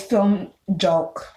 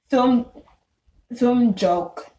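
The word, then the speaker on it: filmjölk: Then there's film joke.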